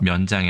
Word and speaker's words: 面牆: 앞에 면자가 장음이네요. 그래서 면장이 아니라 면장이라고 읽어야 된다.